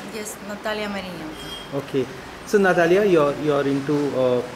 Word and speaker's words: Nataliia Marynenko: Is that pronunciation right? Yes, Nataliia Marynenko.